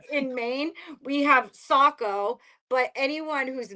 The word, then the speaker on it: Saco: say, it's just like in Maine, we have Saco, but anyone who's not from Maine calls it Seyiko. Seiko. Siri even pronounced it as Seiko.